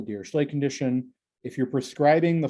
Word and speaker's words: Dirichlet: this is called a dirichlet dirichlet condition um i've heard some people pronounce the name dira clay like with the kind of k i mean it depends